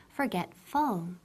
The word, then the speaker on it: forgetful: Y ojo, la pronunciación, no decimos forgetful. So remember, no es forgetful, pero esa UL es como full, forgetful.